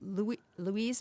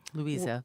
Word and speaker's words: Louisa: So Louise May Alcott Louisa Louisa make sure I say it correctly.